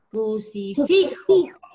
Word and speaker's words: crucifijo: La sílaba tónica está en fi. Crucifijo.